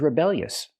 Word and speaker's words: rebellious: She's a rebellious teenager, or I can just say she's rebellious. We see with the adjective, the stress is on the second syllable, rebellious.